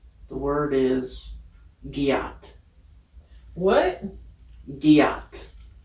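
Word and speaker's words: gyatt: right the word is gat what Gat spell that word g y a t t Gat Gat G yeah Gat sounds like Get please use it in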